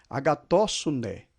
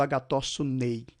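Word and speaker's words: ἀγαθωσύνῃ: Não falei passei, falei passe. Agatóssune, não estou falando agatóssunei.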